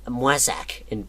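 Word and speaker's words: Moissac: to a town called my sac or printer pronounced my sac in French but still I went there and it's Cossack song called Moy suck wait that's like this edgy picture of a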